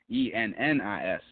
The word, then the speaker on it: Ennis: knows me personally knows one of my best friends' name is Ellis, which is Ellis, and this is Ennis, Ennis.